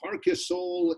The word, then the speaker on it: Parquesol: CD Parquesol in Spain. Am I right? Am I close, Kiersten? Yes. Yeah, you're close. So it's just you don't have the accent. It's you said it right.